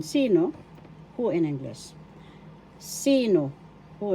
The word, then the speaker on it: sino: engino who in English first syllable C second syllable no first syllable has the action sino who in English sino